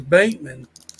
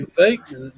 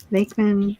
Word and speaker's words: Venkman: You got Peter Venkman, which I was pronouncing him as Bankman, but it's actually Venkman with a V. Venkman, Egon, Winston.